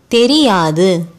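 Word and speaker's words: தெரியாது: Our fourth word, Theriyadu, which means don't know. You already know Te and Ri from Theriyum. This is Ya, a long sound letter.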